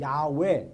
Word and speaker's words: 야훼: 근데 여호와라는 게 히브리어 정확한 발음으로 야훼 또는 야훼라고 얘기하는데 어떤 발음인지는 정확히 몰라요.